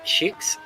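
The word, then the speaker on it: Szűcs: Adonis Racing have Zolt Schukes, which the official GPWC pronunciation guide says should be pronounced Such, actually, so Zolt Such.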